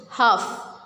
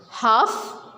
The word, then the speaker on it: half: We will not pronounce L in it. Half. Calf. Walk. See, we are not pronouncing L because L is silent. Half, calf, walk.